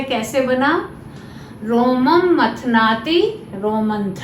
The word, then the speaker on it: रोमन्थ: रोममंथ है, इसका उच्चारण भी शिष्ट जनों के द्वारा रोमंथ है।